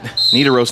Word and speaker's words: Nidaros: It's going to give a 5-point increase for Nidaros. I keep wanting to pronounce it with a long I instead of a short I.